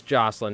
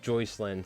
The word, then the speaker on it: Jocelyn: It is Jocelyn, not Joycelyn.